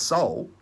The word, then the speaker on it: sol: what's full representation sun the latin word for sun is sol it's pronounced soul that's a hint right